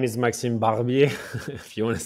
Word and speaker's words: Barbier: So people who don't understand how you spell it, easy is like a Barbie, the doll, and you just put the R at the end. So Barbier, and that's the same nickname and username on all the platforms.